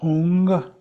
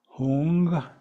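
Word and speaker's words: hūṃ: our sound our ears we say the syllable hung hung twice I like to think of it as ho o o n g in English hung hung it is a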